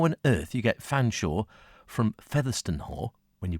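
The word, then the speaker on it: Featherstonehaugh: a u g h all one word buddy featherston her as I thought it was and then someone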